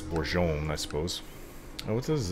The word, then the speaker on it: Bourgogne: It's spelled in English, Bourgogne. But it's Bourgogne, I suppose.